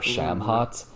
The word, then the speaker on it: Shamhat: So in the mythology, the vegan hippie girlfriend is I think you pronounce her name as Shamat or Ooh. Shamhat, and she's a temple prostitute of Ishtar.